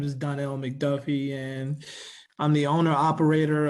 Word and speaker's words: McDuffie: I have thank you Miss Bowman uh Mr McDuffie I'm pronouncing that correctly yeah how you doing my name is Donnell McDuffie and I'm the owner operator of elevation inspections